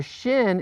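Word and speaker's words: שׁ: a simple S this the shin is pronounced as an SH sound like in he kicked me in the shin or the SH and ship okay the only difference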